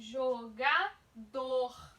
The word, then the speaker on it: jogador: Mas não é o Gá que é mais forte, professora? Não, é o dor, tá?